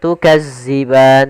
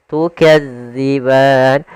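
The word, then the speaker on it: تُكَذِّبَانِ: Hati-hati dalam melafalkan huruf dal karena di sini bukan huruf za. Jangan tukazziban tapi dia tukadziban.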